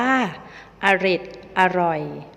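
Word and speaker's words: เอร็ดอร่อย: อ่าน ว่า ทะเหล ทะไหล อเรด อร่อย อ่าน ว่า เอร็ด อร่อย นี่ ก็ เป็น ตัว อย่าง เพียง บาง ส่วน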